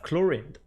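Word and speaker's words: Clorinde: paintings as well and the way we pronounce it in French would be chlorin so as usual a little bit more linear pronunciation compared to English where they put a little bit more emphasis on some part of the words but here chlorine and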